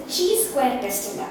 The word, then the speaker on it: chi-square: It's a chi-square test. Okay, chi-square test, that's how you pronounce it.